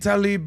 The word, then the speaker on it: Tlaib: It's Rashid Tlaib, but it's spelled with some go ahead, Rob.